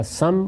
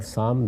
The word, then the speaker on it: سام: ہے اور ایک یافت۔ یافت اور یافس دونوں تلفظ ہیں، اسی طرح سم اور سام دونوں تلفظ ہیں۔ ان